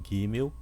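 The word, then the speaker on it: גימל: O Gimel, repita comigo, Gimel, ele tem o som de GU, Gimel.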